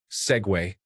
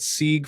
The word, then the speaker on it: segue: Segue. I'm a professional writer and had been pronouncing it Sieg for years, as I'd only ever seen it written down.